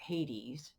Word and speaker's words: Hades: so in the fall then she goes to haides or hades depending on how you pronounce it to be with the underworld for